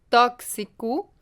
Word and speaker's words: tóxico: X, como em tóxico.